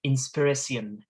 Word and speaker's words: inspiration: today uh that inspiration the word inspiration in in shakespeare would have been pronounced inspiracion inspiration uh and and